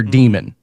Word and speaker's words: daemon: So you would have a daemon, or it's spelled daemon, but it's pronounced demon. It's Daemon.